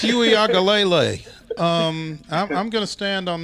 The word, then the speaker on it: Uiagalelei: That's the emphasis on ang and lay. Uiagalelei.